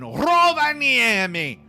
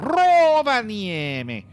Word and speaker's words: Rovaniemi: The Finns, they do roll their R's. I really don't think you say it as Rovaniemi, but it wouldn't surprise me.